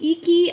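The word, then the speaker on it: Iki: This is my favorite one from I believe it's pronounced Eeky I K I.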